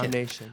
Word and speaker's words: Nam Nation: Is that how you pronounce it? Nam Nation? Nam Nation.